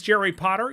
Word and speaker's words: Jerry Potter: My name is Jerry Potter. Yes, it rhymes with the boy wizard, host of the Social